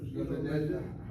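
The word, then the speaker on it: לומדת: You're hitting that last syllable. Just say Lomedet. Lo medet. All right, you gotta work on that one. So the syllables on the mem? Yes, Okay. just to go underneath the mem is a short vowel, has to be accented.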